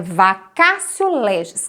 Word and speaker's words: vacatio legis: Isso é o vacatio legis. Escreve com T, mas o T em latim se pronuncia C. Então é vacatio legis.